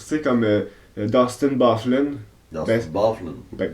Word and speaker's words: Byfuglien: Mais ça se prononce Byfuglien.